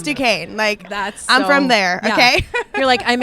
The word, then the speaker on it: Duquesne: It was so funny because I was playing on Broadway just the other day, and it was Duquesne was playing BYU March Madness, and I was like, oh my gosh, go Duquesne, heck yeah!